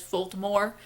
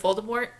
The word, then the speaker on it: Voldemort: on Jim feels nourishing he pronounces some things very strangely it drives me crazy every time he says volta more instead of Voldemort um and Hermione his